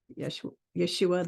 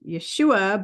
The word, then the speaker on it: Yeshua: I call him Yeshua ben Yosef, or Yeshua the Christ. His name's actually pronounced Yeshua, but a lot of people like to say Yeshua because it's easier.